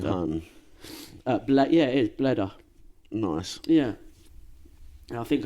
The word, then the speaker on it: Bleda: Yeah, it is Bleda. Nice. Yeah. And I think I remember reading something like they pronounced it though as Buddha, so Bleda is his name, and that's where we get Budapest.